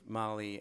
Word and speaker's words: Mali: Yeah, it's Mali Tigre, and it's sort of named for Mali, the country, even though it's spelled Mali, the person, and then Tigray, which